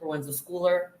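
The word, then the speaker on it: Proenza Schouler: That's how, and that is the way that you pronounce it, Proenza Shouler, in case you were wondering.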